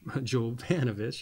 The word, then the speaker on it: Jovanovich: and Keith William uh William I Jo jovanovich jovanovich yeah I said it right a publisher it